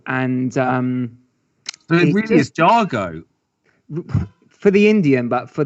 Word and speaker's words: Jago: So I'd spent some time in the southwest country, and it's actually a Cornish name, Jago. But also I'd done some work in India, and they pronounce it Jago, and it's a traditional